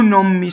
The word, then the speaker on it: non: Here's an N that before an M assimilation. So if you notice, I've written it out with sort of an M symbol. So what happens is, when I say this, I say, più non mi sfaccio. Just watch the non and the mi, right? Non mi.